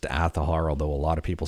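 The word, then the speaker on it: Azahar: 3DS emulation with aahar now this one is pronounced aahar although a lot of people say it should be pronounced aahar or aahar it is pronounced aahar as per the developers of this emulator anyways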